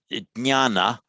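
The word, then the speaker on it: ज्ञान: So, this is jnana, meaning knowledge in Sanskrit, which in Pali, not a jnya, in Pali it just becomes a nya. So, sorry. So Pali, jnana, the jnya of Sanskrit becomes nya in Pali.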